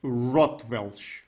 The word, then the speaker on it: Rotwelsch: so this is a language of thebes is rottweil right is that the correct pronunciation it is as far as anyone can